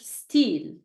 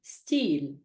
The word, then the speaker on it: style: let's try it so style becomes in French steel okay repeat after me steel your turn good let's try it again steel